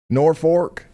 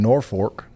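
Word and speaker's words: Norfolk: Also, the pronunciation Posi has decided it's Norfor, Nebraska. Norfor. I sound like a dork saying Norfork, but I will, I guess, if that's what you guys want to call it.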